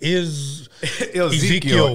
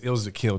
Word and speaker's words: Ilza Kill: You want to say Ezekiel. Everybody says Ezekiel. Yeah. Ilza Kill, so yeah. It's Ilza Kill, dog.